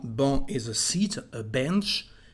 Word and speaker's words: banc: The first one is banc. Banc is a seat, a bench. Banc, we don't pronounce the letter C.